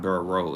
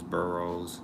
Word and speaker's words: Burroughs: I don't want to be saying, because it's not Burrow, it's Burroughs, like a burrow, like thorough.